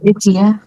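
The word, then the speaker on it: 家: চিয়া চিয়া। চিয়া। অনেক সময় একটু জিয়ার মতো উচ্চারণ হয়।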